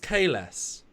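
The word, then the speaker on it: Kahless: If the man Kales clone says my name is Kales, his fucking name is pronounced Kales.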